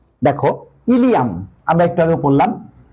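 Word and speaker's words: ileum: লেভেলের হবে তো স্যার কনফিউশন জিনিসটা কি দেখো ইলিয়াম আমরা একটু আগেও পড়লাম যে বিউডেনাম জেজুনাম ইলিয়াম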